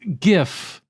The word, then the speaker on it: GIF: hi anna setter um actually it's pronounced gif dave setting the record straight if you disagree you're